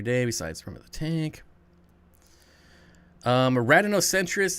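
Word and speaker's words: Rhadinocentrus: Radinocentris. If you guys want to look them up, yes, there is a silent H in there, so I probably should have spelled that out.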